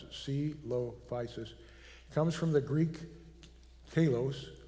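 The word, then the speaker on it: Coelophysis: like civil devices well this is how you pronounce it C low physis comes from the Greek Talos which means hollow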